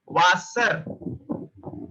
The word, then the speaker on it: Wasser: It's not a W. It's a way, way, way. So it produces sound like V. V. Whenever you found a W, so you have to pronounce it like way.